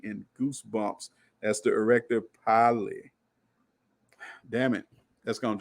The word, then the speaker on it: pili: They're giving me these weird pronunciations. You know how they give you the scientific pronunciation, and it's still, even the pronunciation is hard to pronounce too. Yeah, y'all kill me. Erector pili. We're gonna say poly, okay?